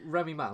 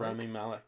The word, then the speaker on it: Rami Malek: Remy Malek. Rami Malek, yeah.